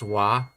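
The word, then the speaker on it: は: romanji is h a whenever you say this particle you pronounce it as wa you wide it write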